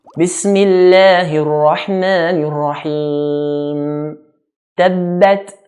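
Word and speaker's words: تبت: Listen to how every single word is pronounced. Bismillahir Rahmanir Rahim. Tabbat, not tabbat.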